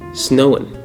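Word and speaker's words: Samhain: 2,000 years ago with the Celtics and their fun holiday called Snowan, weird pronunciation, weird spelling, believed on November 1st, which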